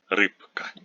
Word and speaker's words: рыбка: We know that voiced consonants like b before a voiceless consonant like k become voiceless. This is why we pronounce рыба, but рыбка, рыбка.